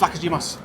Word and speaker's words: Vlachodimos: Do you want to pronounce his name? Vlachodimos. Honestly, it's Vlachodimos.